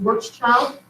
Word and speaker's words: Schwarzschild: I don't know if he was Austrian or German, but that is pronounced Schwarzschild.